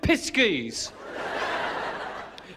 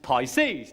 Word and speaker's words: Pisces: I can always say piskies. Oh, no. No. I think you'll find that's pronounced Pisces.